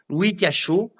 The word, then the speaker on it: Louis Cachot: Vous allez sur la page de Messenger, vous tapez Louis Cachot, comme ça se prononce, un cachot, et vous lui demandez.